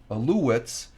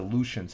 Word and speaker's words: Alouettes: The U is pronounced with a W, so I've been pronouncing the Montreal Alouettes. They're supposed to, I was calling them the Aleutians, and it's not the Alouettes.